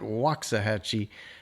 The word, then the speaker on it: Waxahachie: The name looks like Waxahhatche, but we call it Waxahhatche out here in Texas. We say things a little bit different.